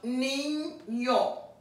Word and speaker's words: niño: Now, anytime you have an ñe, it's going to be an N and a Y in this ñ.